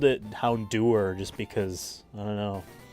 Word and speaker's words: Houndour: here uh is the hondur the doggy the fire doggy um I like that now David last time said he he always pronounced it houndour like hour I've always called it hound or just because I don't